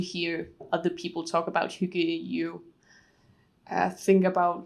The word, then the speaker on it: hygge: If I'm pronouncing that right. Yeah, hygge.